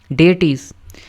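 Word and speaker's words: deities: डी ई आई टी आई ई एस डेटी डेटी डेटी डेटीस इस word को कैसे pronounce करना है हमने कहां पे लिखा हुआ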